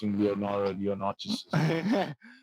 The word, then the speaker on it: Leonotis: Which a lot of people do not pronounce Leonotis. They think It's Leo.